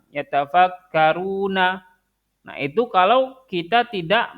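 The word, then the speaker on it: يتفكرون: tidak bertemu dengan sukun, maka berarti dia harusnya dibacanya normal kan? Dibaca dua harokat. Yatafakkaruna.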